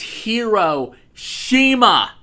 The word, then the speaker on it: Hiroshima: I'm like Hiroshima Hiroshima Hiroshima is the correct way to pronounce it but I'm still here hearing Hiroshima Hiroshima I'm like for God's sakes it is hero Shima please it's not that hard